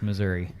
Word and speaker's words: Missouri: My sweet little grandmother can say Missouri if she wants, but for those of us up there, it's Missouri. Okay.